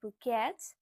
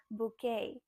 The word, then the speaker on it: bouquet: You might think that this sounds like bouquet, but no, this is a French word, so it sounds like bouquet.